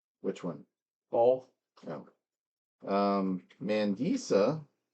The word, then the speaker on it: Mandisa: Um, Mandisa is pretty much the way it sounds. M A N D I S A. No, that's not how I would have spelled it. Mandisa.